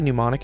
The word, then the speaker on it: mnemonic: Sorry, how do you say mnemonic again? Mnemonic? MN. Oh, MN, that's what it is.